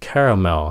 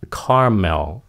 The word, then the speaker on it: caramel: Thực ra cái chữ này người Mỹ có hai cách phát âm. Một là caramel, hai nữa là caramel.